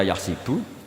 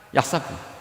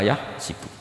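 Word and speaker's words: يحسب: Karena dalam qiraat sabah ada yang baca yahsibu. Qiraah kita baca yahbu. Tapi guru-guru kita kalau ngajar fikih itu bacanya yahsibu. Tapi kalau baca Quran yahsabu. Ya kan Quran kita kan ayahsabu alla yaqdiro alaihi ahad. Bukan dibaca ayah sibuk.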